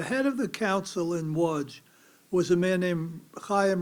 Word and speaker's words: Łódź: In English, we pronounce it Lodz, L-O-D-Z, right? Łódź. Łódź was a big ghetto, and it was a very distinctive ghetto.